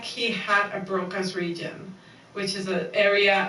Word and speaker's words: Broca: his endocast, it looks like he had a Broca's region, which is an area of the brain that is specifically tied to language. And not just how do you say that? Broca, Broca.